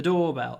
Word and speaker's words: doorbell: the doorbell intercom the doorbell and remember the stress on the first word doorbell into doorbell into